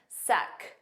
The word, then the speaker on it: sec: you have a sec now make sure you pronounce that c it's a k sound at the end Su repeat after me su